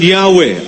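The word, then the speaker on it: Yahweh: Ano ang sabi diyan while inclining to view the pronunciation yahwe as the more correct way we we have retained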